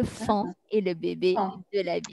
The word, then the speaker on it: faon: n'est pas le pan mais c'est le fond qui s'écrit f&a au n donc le faon et le bébé de